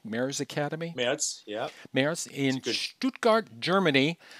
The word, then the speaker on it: Merz: Am I pronouncing that correctly? Merz Academy? Merz, yeah.